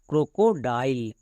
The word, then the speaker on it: crocodile: AND এন্ড, THE দা, CRO crow, CO কো, DILE ডাইল ক্রোকোডাইল। এখানে আয়ের উচ্চারণটা আই কেন হলো? কারণ এটা 6 লেটারের বেশি ওয়ার্ড, তাই আয়ের উচ্চারণ আই হলো।